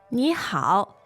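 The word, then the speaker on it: 你好: The two elements are 你 and 好. great. Now, could you tell us about those two? First of all, they are both third tones.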